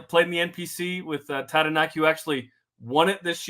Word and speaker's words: Taranaki: That's nice the way you rolled the R. That was good. That's good. Okay, Taranaki, yep. He's the nephew of All Black Kieran Crowley. Played in the NPC with Taranaki, who actually won it